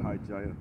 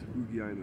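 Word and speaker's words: ὑγιαίνω: In Titus 2 it goes into the word high Gaia or high Gaia. Yeah. Sorry. Yeah. It looks like that when you look at the characters, but when you actually pronounce it, there is Hugiaina.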